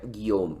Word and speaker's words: Guillaume: Para un hispanohablante, tú ves una palabra en francés y dices, ¿cómo que Guillaume se pronuncia Guillaume?